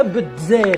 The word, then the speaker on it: الجزائر: على الساحل الجزائري ثالثا وبالرغم انه بالعربيه تتكسب بالجزائر بالجيم الا انه الاغلبيه الساحقه ديال الناس تتنطقها بالجزائر يعني بالدال والزين ماذا توصل الدوله